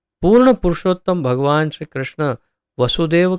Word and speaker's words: वासुदेव: जैसे वसुदेव और वासुदेव 2 शब्द हैं, बहुत सारे लोग उसका उच्चारण वसुदेव का भी वासुदेव, वासुदेव का भी वासुदेव करते हैं।